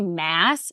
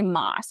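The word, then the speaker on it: Maas: two months ago that it's Sarah J Mass not Sarah J moss so I'm gonna butcher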